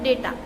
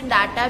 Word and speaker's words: data: कुछ लोग इसे डाटा भी कहते हैं, ठीक है, पर इसको सही से डेटा कहा जाता है।